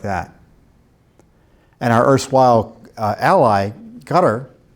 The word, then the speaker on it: Qatar: And our erstwhile ally, Qatar, Qatir, I pronounce it Qatar, is funding Texas A&M, a public university.